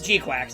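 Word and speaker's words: GQuuuuuuX: G Quacks is how you pronounce it.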